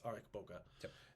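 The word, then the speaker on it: Ariq Böke: after my uncle's dead aric and uh Eric Boca yep he's called Boca or arik kind of interchangeably but it's Eric Boca and Kublai almost immediately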